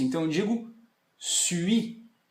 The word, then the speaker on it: suis: Então assim, a minha dica que eu sempre dou é de você fazer o som do U com a boca, U, e você pronuncia o som de I.